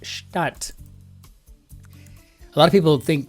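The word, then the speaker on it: Stadt: German City well a city in Germany is pronounced shat a lot of people think they see shat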